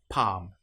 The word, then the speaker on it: palm: Another one that you might come across is when you have L M together. An example might be palm. In this case, the L you will notice is not pronounced at all.